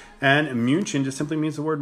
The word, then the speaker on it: München: It goes to the original pronunciation of the word, which is München. And München just simply means the word monk, and it's a city built around a monastery.